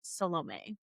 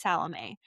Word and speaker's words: Salome: I looked up how to say her name because she gets really mad when people say it wrong. I think a lot of people call it Salome. That's a beautiful name. It's Salome.